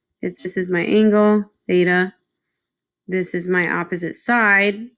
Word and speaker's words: theta: that's opposite the angle theta divided by the hypotenuse now again just to be clear this symbol is Theta that's how you say it it's just a Greek